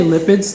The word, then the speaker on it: lipids: when you say light but it sounds like one cylinder yeah sorry syllable but it's two syllables light bit yeah light bit yeah lipped yeah you can say lipids that's two syllables my